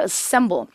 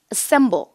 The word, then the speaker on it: assemble: 자요 단어 일단 중요하죠 강세 이음절 assemble 따라해 보세요 바로 뭐라고요 assemble 따라 하시려니까 다시 뭐라고요 assemble 조립하다 동사입니다 절대로 어를 크게 발음하지 마시고 강세가 없는 모음이 붙어서 being assembled 이렇게 들릴 텐데 조립이 되어진 것